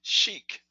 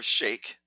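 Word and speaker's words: sheikh: an influence and influential cheek or shake as some people pronounce it he was rich in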